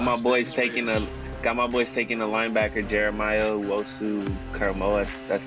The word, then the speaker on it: Jeremiah Owusu-Koramoah: Got my boys taking a linebacker, Jeremiah Owusu-Koramoah.